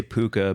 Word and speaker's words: puka: Puck a shell necklace is it pucker how do you say it we say puka but also I know